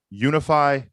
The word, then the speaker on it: Unifi: brought to you by unify commerce say with me now unify commerce yes guys that is spelled u n i f i commerce dot com guys